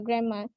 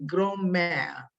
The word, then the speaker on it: grand mal: So ni grand mal. Grand mal. So it's French.